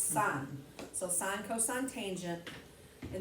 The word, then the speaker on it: sin: you're okay um first off those are said pronounced sine cosine tangent those are abbreviations i don't really